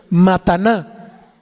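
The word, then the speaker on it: מתנה: Y la raíz aquí es el hebreo mataná, que quiere decir regalo o presente especial, ofrenda para sacrificio, dádiva, don, ofrenda y regalo. Digo, para lo que lo estamos utilizando. Mataná, con acento en la A.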